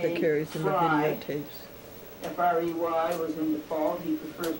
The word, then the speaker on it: Frey: F-R-E-Y was in default. He prefers to call it Frey, but you better spell it Frey.